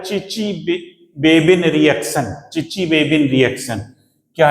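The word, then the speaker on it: Chichibabin: बे बिन अभिक्रिया कहलाती टी S silent है इसमें कभी आपको सर आपने टीएस नहीं बोल रहे टी एस सी एच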